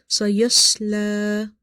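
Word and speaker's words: سَيَصْلَى: Try not to make lam heavy in order to pronounce swad heavy. Because sometimes when we are trying to make swad heavy, we can make lam heavy as well. Sayasla, sayasla, نار ذات لهب.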